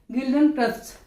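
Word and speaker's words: Guildenstern: डी ई एन एस टी ई आर एन गिल्डन क्रस्ट ये जो है दोनों इन कैरेक्टर को उसके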